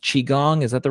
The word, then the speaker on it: Qigong: Is it pronounced Qigong?